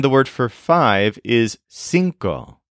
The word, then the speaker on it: cinco: r o and the word for five is sinko spelled c i NCO so for example we'll